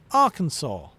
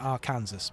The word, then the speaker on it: Arkansas: We'll put an A and an R at the start and we'll pronounce it naturally Arkansas because that makes sense." I I'll be honest. I I keep I keep accidentally calling it our Kansas because god damn it should be our Kansas.